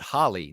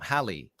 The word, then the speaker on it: Hallie: But don't pronounce it Holly. No, Hallie.